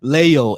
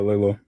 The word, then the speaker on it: Lalo: So Leo, it is your turn first. I've been saying your name wrong this entire time. I do apologize. How do I say your name?